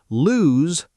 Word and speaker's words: lose: Lose is lose, with a z.